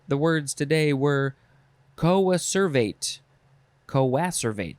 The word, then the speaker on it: coacervate: Coacervate, that's how you say it.